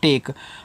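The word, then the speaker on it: take: आपको बताया था कि जब ए के बाद एक लेटर छोड़कर के इ आए तो ए का उच्चारण करते हैं ए की मात्रा के रूप में इसका ठीक है और इसका होता नहीं तो टी से आपका ट ए का उच्चारण ए की मात्रा के से आपका का यहां पे इसका उच्चारण नहीं करेंगे टेक और टेक का मतलब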